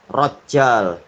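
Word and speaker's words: Rajjāl: rahimahullah dia adalah rajal yaitu rnya di Fathah jimnya di tasdid yang terakhir adalah lam jadi bacanya rajjal toib Ibnu boleh unfuah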